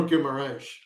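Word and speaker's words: Guimarães: Well, it's actually more Guimaraes, like you said.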